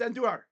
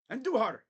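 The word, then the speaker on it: Andújar: It's Andujar. You got to roll. Roll it. Andujar. Harder, harder, harder, harder. Harder. Roll your R's. Andujar.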